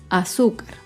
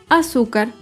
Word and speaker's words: azúcar: Por ejemplo, la palabra azúcar. Azúcar es una palabra grave y se acentúa en la penúltima sílaba.